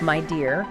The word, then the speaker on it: Midea: Well, we're going to unpack how Midea, Okay. and that's pronounced my dear, My dear.